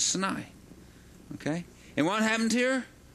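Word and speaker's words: Sinai: say say snai that's I try to pronounce it the Hebrew way which is snai okay and what happened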